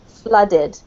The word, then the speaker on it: flooded: flooded with the water make it more of an uh sound as if it was spelled with a u flooded flooded yeah that's better